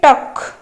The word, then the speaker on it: talk: L D अच्छी K ताने टक रे हमर साइलेंट कौन हबो L टा साइलेंट हबो ताले करेक्ट C टा होछि करेक्ट आंसर।